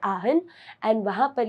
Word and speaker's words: Aachen: अगर जर्मन के प्रोनाउंसिएशन से जाओगे तो इट इज आहन, आहन. But if you want to have an English pronunciation of this particular place which is there in Germany, so it is Aachen.